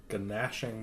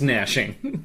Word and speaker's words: gnashing: So they have a missile launcher, a multi-melta, a bile spurt, and a ganashing maw. You know that it's gnashing.